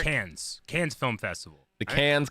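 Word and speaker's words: Cannes: C nnes KES okay Eric how do you say that uh KES thank you Eric can's can's Film Festival the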